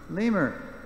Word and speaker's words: lemur: a creature that is it rhymes with a bone in your leg right femur is the bone so what's the creature lemur native to Madagascar the